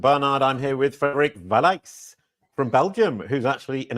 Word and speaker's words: Vallaeys: I'm here with Frederick valik from Belgium who's actually in America welcome Frederick thank you Jason I mean that was an amazing pronunciation of the the original way my last name is said Thank You brilliant a